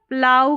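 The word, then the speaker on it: plough: फिर यहां पर है ओ यू जी एच का उच्चारण प्लाऊ करके हो रहा है।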